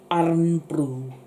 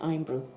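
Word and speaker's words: Irn-Bru: It's IRNBRU, iron brew. That's how you say it, iron brew.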